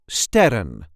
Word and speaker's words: sterren: we call in Dutch sterren, or singular, ster. This is the way we say ster. Ster. The plural version being sterren. Ster, sterren. For the plural version, the emphasis is on the first syllable.